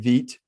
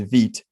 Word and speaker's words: Vite: fast and configurable than veet which is such the wrong way to say this word but that's what i'm told how you're supposed to pronounce it is veet this is vite v-i-t-e that's byte um sorry um maybe maybe in another language that would be veet and maybe that's what